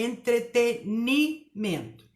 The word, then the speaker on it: entretenimento: É entretenimento. A palavra gratuito não tem acento. Gratuito. E a pronúncia é gratuito.